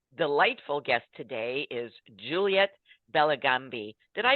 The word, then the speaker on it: Bellagambi: borders and our delightful guest today is Juliet bellambi did I pronounce that correctly yes you did Juliet awesome